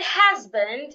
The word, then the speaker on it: husband: In the word husband and hospital, the age should be heard.